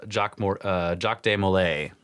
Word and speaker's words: Jacques de Molay: But what's, and including the burning at the stake, was the Grand Master at the time, Jacques de Molay, which is, I think, how you say it.